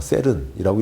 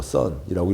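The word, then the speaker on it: CERN: 한 예로 뭐 셀은이라고 읽기도 하고 선이라고 읽기도 하고요.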